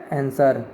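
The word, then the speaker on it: answer: Next question, which is a silent letter in the word आंसर, आंसर शब्द में कौन सा मूक अक्षर है, तो इसका ऑप्शन सही हो जाएगा आपका ये डब्ल्यू, आंसर, आंसर ये आपका साइलेंट है डब्ल्यू, जैसे बढ़ने पे आ रहा है आंसर, ये आपका डब्ल्यू साइलेंट है, उसी को मूक शब्द बोला जाता है।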